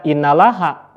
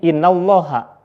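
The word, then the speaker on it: إِنَّ الله: selanjutnya ada kalimat Innallaha Innallaha itu hukumnya tafhim kenapa Karena di sini dibacanya tebal alasannya sebelum lafaz Allah ada Garis patah maka dibacanya tafhim tidak boleh Dibaca innalaha tapi Innallaha selanjutnya ada kita lanjutkan dulu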